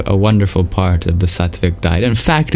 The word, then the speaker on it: sattvic: Yogic, Sattvic, Sattvic, Sattvic, or Ayurvedic is also another synonym for that.